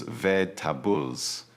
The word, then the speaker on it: vegetables: Also, remember the word vegetables from our earlier lesson. It is 3 syllables, vegetables. So if you put it